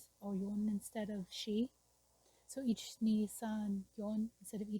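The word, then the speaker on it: 四: whirlpool and the uh number four she uh sounds like the word for death in Japanese which is she so that's why a lot of uh Japanese classes they teach you to say yon or yon instead of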